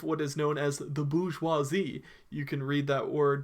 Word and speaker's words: bourgeoisie: French words here so the pronunciation might not look the same as the way we read it so when you see this word remember it's bougie huazi or I might just